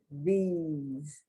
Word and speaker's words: these: Deeds, these. I've heard a lot of this. The These pronounced like the Deeds.